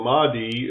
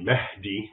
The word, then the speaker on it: Mahdi: So the Mahdi, as an English speaker would pronounce it, it's really Mahdi, which basically means guided.